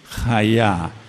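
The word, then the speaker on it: היה: Aber o tener en pasado y futuro es el verbo ser o estar, que es cómo se dice, jaá. Se escribe con una he, una yod y una hei.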